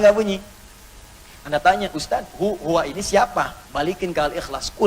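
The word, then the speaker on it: هو: dari Hua begini karena kalau kita W dalam bacaan Hua W engak dibaca bacanya hu contoh Quran surah keed2 ayat 255 ayat kursi allahuaha wa allahuaha hu hu WAnya enggak bunyi karena dalam bahasa Arab termasuk di Alquran harakat terakhir enggak bunyi dia mati Bismillahirahmanirrahim harakat terakhirnya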